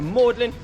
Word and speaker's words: Magdalene: a little sneaky and he changed the pronunciation from Magdalene to mlin to still have his